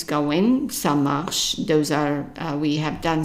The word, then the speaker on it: ça marche: And pronunciation-wise, it's easy because M-A, it's an ma, because the A is an A in French.